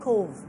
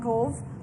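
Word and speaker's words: Cobh: really tiny town called Cove and Cove is spelled a c-o-b-h so I have no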